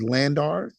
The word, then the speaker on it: LANDR: One particular app that I've used is Landar, and that's spelled Landr for anyone interested in that.